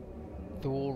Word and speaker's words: Thule: You think there's a reason that Thule rhymes with fool?